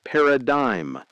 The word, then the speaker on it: paradigm: That's pronounced paradigm, and it means the way you see things, your perspective, your point of view.